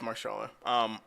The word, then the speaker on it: Mahershala: Or Mahershala, just I don't know if the H is silent or not, but I'm pretty sure I had that right the first It's time. Marshala. Yeah, it's Marshala.